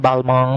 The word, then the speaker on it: Balmain: Lupa Balmain, sekarang dulu bilang Balmain, itu bacanya Balmong. Balma bacanya begitu.